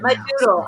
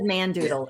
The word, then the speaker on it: Madoodle: Madoodle. I said Mandoodle. It's not Mandoodle.